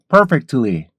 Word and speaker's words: perfectly: 하면 안 돼요 퍽 퍽 그리고 음절은 올리라 그랬죠 퍽 더 올리세요 퍽 perfectly perfectly perfectly 이렇게 하시고요 그다음에 어 뒤에 t 발음 약화시켜 주면은 perfectly perfectly perfectly 이렇게 발음할 수 있던 거 알아두시면이 발음은 아주 정확히 잘 발음할 수가 있어요 이런 부분들을 잘 알아두셔야